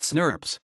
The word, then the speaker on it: snRNP: snRNA are always associated with a set of specific proteins, and the complexes are referred to as small nuclear ribonucleoproteins, snRNP, often pronounced snurps.